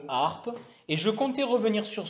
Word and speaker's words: harpe: Voilà, donc la lettre H ne fait pas de bruit, comme dans le mot harpe.